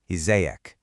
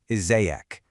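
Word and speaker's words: إزيك: To a man, you use an ek sound at the end, izayek. And for a woman, it's more of an ik sound, izayek.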